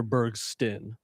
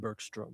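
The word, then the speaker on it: Bergsten: Berg Sten, not Burkstrom.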